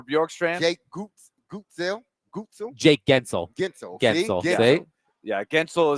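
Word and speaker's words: Guentzel: Gensel. Gensel. See? See? Yeah, Gensel is not. You don't even pronounce it. There's no sounding of the U in there at all. No. Right. It's Gensel.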